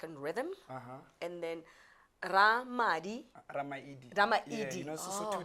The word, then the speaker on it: Ramaili: So like it's very rare for people to say my last name properly. So yeah. So it's Ramaili. Yeah, Ramaili.